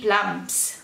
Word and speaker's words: plums: Então, on Wednesday, he ate through 3 plums. Let's count. 1, 2, 3 plums. Aqui fecha a boquinha na hora de pronunciar o M, tá?